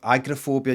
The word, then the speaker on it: agoraphobia: sorry um agrophobia right did you know americans pronounce agoraphobia agorophobia agorophobia um whereas here i've always heard this agoraphobia urus kennel microphobia oh